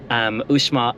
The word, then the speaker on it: Uxmal: drive out from Merida, Uxmal, and that is how you pronounce it. I asked the guy taking tickets, is it Uxmal or Uxmal? And he said Uxmal. I get really confused with the X in Spanish.